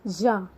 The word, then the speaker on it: ja: J you have to pronounce as ya. Y-A, ya is yes. J-A, ja is ya. You have to say ya.